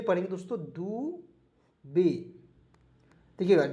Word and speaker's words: Dubey: उसके बाद DUBEY दुबे पढ़ेंगे दोस्तों, दुबे, देखिएगा DUBEY दुबे पढ़ेंगे, ठीक है, क्योंकि वाई इसमें साइलेंट रहता है दोस्तों।